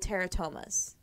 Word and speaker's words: teratomas: Okay, so these tumors are called teratomas. Sounds like pterodactyl. Okay. But they're actually spelled with a T, not a P.